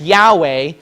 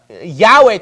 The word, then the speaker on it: Yahweh: thing right here okay this uh Yahweh thing this thing should be a VAV okay A V sound not a w sound okay it should be a v sound that's basic Hebrew now my question is